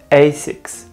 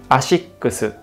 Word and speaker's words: ASICS: confused the most because native english speakers pronounce it asics but in japan we say ashikusu basics is derived from